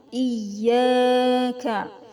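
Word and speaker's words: إِيَّاكَ: ada fathah diikuti Alif Iya itu ada tasdidnya harus ditekan ya harus ditahan iyyaka cara membacanya sekedar terang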